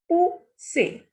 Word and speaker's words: pousser: Next is pou, who, ser, say. Pousser.